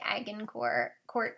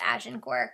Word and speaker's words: Agincourt: that word looks like AG incor court but it's pronounced ash and gore because it's French um this video is